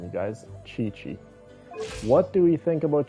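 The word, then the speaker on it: Qiqi: Chi-Chi is how you pronounce her name, you guys. Chi-Chi.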